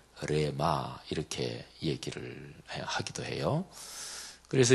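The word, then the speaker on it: ῥῆμα: 발음을 정확히 하면 레마 이렇게 하죠. 레자를 막 입속으로 깊이 이렇게 해서 발음해야 되는 건데 어쨌든 레마.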